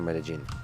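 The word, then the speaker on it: Medellín: medellin by the way how do you pronounce it medellin or medellin both are fine i think the there they say medellin because that's kind of the accent is the on the double l but that's but medellin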